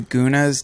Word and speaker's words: gunas: There's this concept that I've been reading about called the gunas. Do you know about this? So it's called the modes of material nature. It might be pronounced goons, but it's Gunas, gunas.